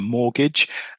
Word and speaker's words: mortgage: And in actual fact when you spell it, it's spelled M O R T and then gidge or gauge or gidge, mortgage. It's said quite quickly the second bit so it's mortgage.